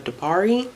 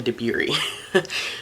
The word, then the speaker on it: Dabiri: Black Hair Culture by Emma Dupari actually I'm pretty sure I just said her last name wrong is Emma Dabiri.